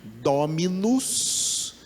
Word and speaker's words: dominus: A palavra dono, já que eu falei a palavra dono, dono vem do latim dominus, que é Senhor, 3 sílabas, é uma palavra trissílaba, dominus, dominus, Senhor.